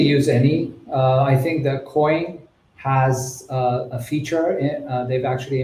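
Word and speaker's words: Koin: It's Coin, right, Linya? Or is it? Yeah. Yeah, it's Coin. It's spelled with a K.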